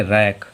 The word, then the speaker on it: wreck: WR की बात करें तो WRECK, तो W जो है वो R के पहले आ रहा तो अगर R के पहले तो W साइलेंट। इसे क्या पढ़ेंगे? रैक, क्या पढ़ेंगे?